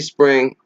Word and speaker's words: Xpring: adoption and exports actually spring X is silent i ce o--'s have